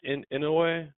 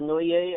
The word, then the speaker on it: Inoue: Inoue? How you say it? Just pretty close to Noye, I think. Inoue?